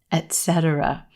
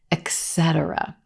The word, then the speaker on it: etc.: A lot of times a native speaker will put the stress in the wrong place in this word.